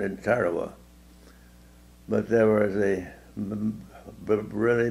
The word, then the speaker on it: Tarawa: name of the summer time that time it's pronounced in tarawa but there was a really bloody battle there